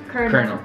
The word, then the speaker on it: colonel: kerr no there's no this l is actually pronounced as a r colonel colonel colonel colonel sanders